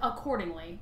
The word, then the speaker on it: Cordingley: accordingly accordingly re yeah I think like accordingly but just without the a yeah so Rebecca accordingly